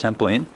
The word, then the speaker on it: Templin: Alright, this is Tapping the Travels, giving you a bumpy journey down the walls of Templin, Germany, pronounced Templin.